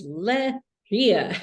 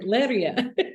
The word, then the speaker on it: Leiria: My friend was like, Princess Leia, it's Leiria. I was like, okay. I was like, Leiria.